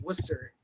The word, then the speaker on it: Worcester: Most importantly, the city I'm in is called Worcester. Everybody mispronounces it, but thank you.